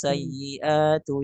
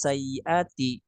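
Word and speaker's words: السيئاتِ: bacanya wa ma taqis sayyiatu yauma idzin faqad rahimtah. Itu salah gitu ya. Harusnya wa ma taqis sayyiati, bukan sayyiatu.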